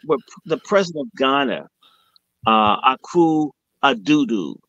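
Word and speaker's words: Akufo-Addo: the president of Ghana, Akufo Addo, that's how I pronounce it, and he's more than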